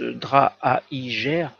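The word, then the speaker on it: Draaijer: sur la santé c'est le décès de johannès draps alors ce beau roman prononce drâa higer coureur cycliste de 26 ans autre drame par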